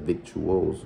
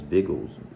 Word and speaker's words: victuals: So it's interesting how it's pronounced. I said victuals, but it's vigils.